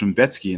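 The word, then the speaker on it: Rębecki: So Mateusz Raumbecki. So apparently it's Raumbecki, and that absolutely blew my mind. But it's Polish, so I guess that kind of makes sense because they pronounce things all kinds of crazy.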